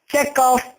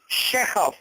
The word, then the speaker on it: Chekhov: Checkov नहीं कहना. A right pronunciation as per the Russian dictionary. That is Chekhov. Even कि Oxford dictionary भी इसे कहेगी चेकअप. क्लियर? आप इसे बोलना है शेखव.